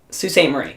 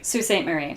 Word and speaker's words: Sault Ste. Marie: Alright, how do you pronounce this one? Sault Ste. Mary. Sault Ste. Mary. Sault Ste. Marie. Sault Ste. Marie.